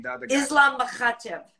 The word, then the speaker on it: Makhachev: Islam Makhachev. Oh, here we go. You didn't have to put that much ha into it. That's how you say his name.